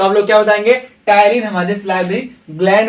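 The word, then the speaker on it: ptyalin: ठीक है बच्चों, टाइलिन ज्यादा पूछता है, एकदम पी साइलेंट है।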